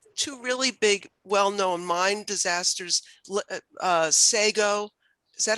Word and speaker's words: Sago: in the two really big, well-known mine disasters, Sago, is that how you say it, Celeste? Sago? Yes, Sago.